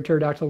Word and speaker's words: pterodactyl: pterodactyl when it peed why can you not hear a turd actal when it pees because the pee is silent thank you very much